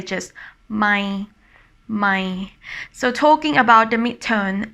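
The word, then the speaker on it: ใหม่: And talking about the tone, this tone is dropping down when you pronounce it, my. So I always say that it sounds like a disappointing tone.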